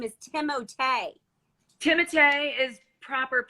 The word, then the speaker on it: Timothée: Is it Timothy or Timothée? Well, Chalamet. We call. Please explain this to me. Somebody told me the other day I was saying it totally wrong, and his name is Timothée. Timothée is proper pronunciation, but Timmy is what we